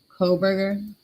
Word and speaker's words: Kohberger: So, myself and Arctic were speaking about Bryan Kohberger. That's how you say his name.